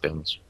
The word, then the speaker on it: Banastre: It's pronounced Bannister.